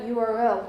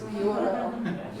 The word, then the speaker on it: URL: decided send me that URL will you it's not Ur it's URL really if um if you run into these letters you need to pronounce the whole letters you can't say I